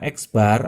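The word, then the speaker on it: x̄: ya itu adalah rumusnya X Bar atau X rata-rata ini x bar bacanya X bar sama dengan jumlah data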